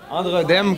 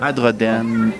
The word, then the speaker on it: Adrodem: Androdem, comme tout le SAGeek le prononce. C'est-tu Adrodem? Androdem? C'est Adrodem. Adrodem. Ah, il y a un N à la Non, fin. il n'est pas en tout. Adrodem.